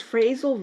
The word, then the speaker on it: phrasal: All right, so a phrasal verb pronounced with an F, like your phone, PH, so phrasal.